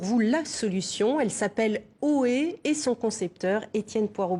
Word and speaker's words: Oohee: la solution elle s'appelle haut et et son concepteur etienne poireau bourdin est avec nos bonjour monsieur alors oui ça s'écrit au haut a eu un peu comment quand on interpelle quelqu'un au et comment est née